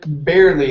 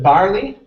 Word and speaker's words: barely: next up we have the word barely instead of barley a be barely barely okay very good um